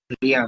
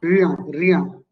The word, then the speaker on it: rien: So in the same way, how am I going to pronounce this? Can you tell me? Rien. Rien.